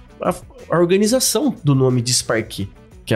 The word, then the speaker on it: Disparquet: como empresário a a a organização do nome de sparque que é a pronúncia correta né até que um dia cai